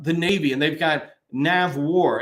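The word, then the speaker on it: NAVWAR: Navy and they've got nav War it's not Nave War uh it's not uh Nave sea or something understanding how to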